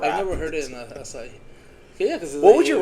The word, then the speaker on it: Açaí: Or the is it Açaí? Acai? How do you say? Açaí. Açaí.